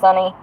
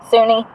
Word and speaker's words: Suni: I think it's pronounced Sunny. Suni. It's S-U-N-I.